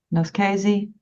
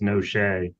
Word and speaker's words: Noche: Actually, Your Honor, you did in terms of the Italian pronunciation, but our pronunciation in our family has changed over the years, and it's Noche. Noche.